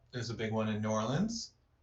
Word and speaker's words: New Orleans: After that, there's a big one in New Orleans, or Nolans, as perhaps they pronounce it.